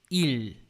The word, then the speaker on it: 일: Em coreano, a gente escreve ele assim e a gente o pronuncia como il.